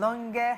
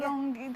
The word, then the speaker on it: Longe: I always feel you don't pronounce my surname right. Longe. Longe. I said Longe. I said Longe. There's a way you pronounce it. Just doesn't ever fit. Longe. Longe. Okay, Longe. Longe. Do you understand? It's musical.